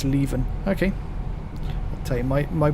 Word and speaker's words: Leven: It's pronounced Leven.